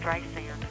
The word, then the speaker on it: Streisand: Oh, first of all, my name is Streisand, with soft S and A-N-D, like Anne, sand on the beach, okay?